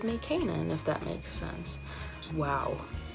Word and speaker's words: Canaan: all but so everybody knows I go by Kanan it's spelled CA and aan K and then I